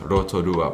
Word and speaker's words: Rotorua: how about your hometown hikawa how do i pronounce rotorua properly well that was pretty good margaret but